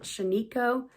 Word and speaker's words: Shaniko: Some people pronounce it Sheniko, but I've heard it pronounced Shanico, so that's what I'm going to use. Shanica wool is a branded